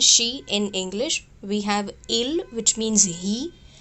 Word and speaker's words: ils: plural they which is ills and else they are pronounced just same ill and l we don't pronounce the last consonant s so l and l